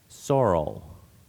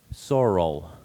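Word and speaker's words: sorrel: has a homin h homin your word is soral repeat the word please and there's also a slight variant uh pronunciation I'll give you as well Soro Soro Soro also soror primary pronunciation is soral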